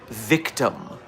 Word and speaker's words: VKTM: Uh, the group I'm going to tell you to look into today is Victim, which is spelled VKTM.